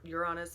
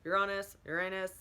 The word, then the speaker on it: Uranus: Uranus is actually Uranus. It can be pronounced so many different ways.